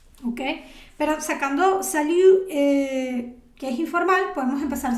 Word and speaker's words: salut: Ok, este salut, de aquí tampoco, esa T no se pronuncia.